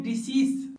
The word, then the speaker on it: decease: इस वर्ड का साउंड होता है डिजीज और इसका मीनिंग है बीमारी, जबकि इस दूसरे वर्ड का साउंड होता है डिसीज और जिसका मीनिंग था मृतक या मैयत।